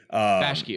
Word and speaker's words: Bakshi: Ralph Bakshi. Bakshi.